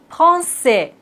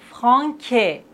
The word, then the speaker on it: Français: La cédille nous indique qu'il faut toujours prononcer cette lettre C. Regardez bien. K. Et maintenant, avec cédille, ça. K. Ça. Français.